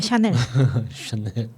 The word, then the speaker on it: Chanel: 아니 불어로 샤넬이라고 읽죠. 채널이죠. 아니요 샤넬. 아니 그러니까 철자가 다르잖아요. 그렇구나. 샤넬 그냥 CHANEL 이렇게 그냥 채널은 N이 하나 더 들어가죠.